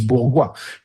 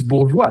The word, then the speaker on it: Bourgois: Yeah, my name is Borga. Most people think it's bora. So they add an e. So I have to say without the e.